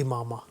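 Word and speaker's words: عمامہ: تو جو درست تلفظ ہے جو لغت میں وہ ہے امامہ، صحیح، عین کے زیر کے ساتھ. صحیح. اور امامہ جو ہے وہ درست نہیں ہے، ٹھیک ہے،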